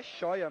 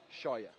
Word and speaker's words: Scheuer: É Scheuer mesmo que fala, a gente pegou essa informação direto da fonte lá em Pato Branco ano passado com a nossa equipe de reportagem. E a pronúncia correta é Paulo Scheuer.